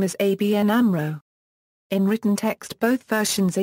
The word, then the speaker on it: ABN AMRO: make up the Amro the letters in ABN are pronounced separately and Amro is pronounced as a word for this reason some media spell the name as ABN Amro in written text both